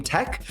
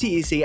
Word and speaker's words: TEC: I asked TEC because a lot of people pronounce his name Tech, and I asked TEC, how do you intend for your name to be pronounced? And he said TEC, so I'm going to